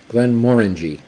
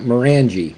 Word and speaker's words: Glenmorangie: Both of them are Glenmore. Glen Moray, Glenmorangie. Okay, it's not Morangie, by the way. Okay, Morangie, just like an orangey.